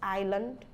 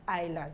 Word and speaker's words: Island: more rules a says it's not pronounced before L this is Island Isle Isle Alex all right so once you have the the I it's not L before it to say s is not pronounced before L islets and Island so that is it you don't pronounce the S then we have silent